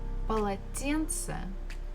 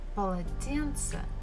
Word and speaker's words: полотенце: And the final one is полотенце, полотенце, a towel. So again, the first two syllables, pa, la, they are not stressed. Тен is stressed and ce is not stressed.